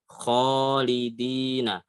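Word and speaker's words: خالدين: Jadi yang pasnya adalah kho ya. Kho kho kholidina. Itu ketika alif sebelumnya fathah.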